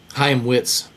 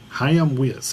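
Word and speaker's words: Chaim Witz: Ha Witz. Ha Witz.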